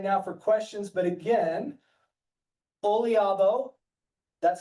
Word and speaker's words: Oliabo: I think that's all the time we've got right now for questions, but again, Olabo, that's how you pronounce it.